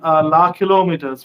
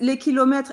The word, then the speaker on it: Les Kilomètres: So your first album is called La Kilometers, right? And I'm probably mispronouncing the French, so please excuse me. So it's La Kilometer, right? How do you pronounce it in France? It's Les Kilomètres.